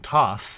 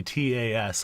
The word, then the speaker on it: Taz: I've been saying it wrong because I've been saying toss as if tossing an object, and it's very clearly TAS on my screen.